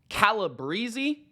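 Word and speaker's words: Calabrese: then you've got Rob calib Breezy I believe is how you properly pronounce his Italian last name shout out uh quarterback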